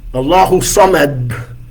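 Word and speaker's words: الله الصمد: Allahu Samad is how we pronounce that. If you want to do a little tajweed, you can shake the D a little bit. Allahu Samad.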